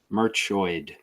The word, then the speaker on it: Merchoid: But Merchoid. Not too bad. Yep. Merchoid. That's spelled like it sounds.